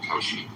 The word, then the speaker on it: Kalshi: It's pronounced Kalshi.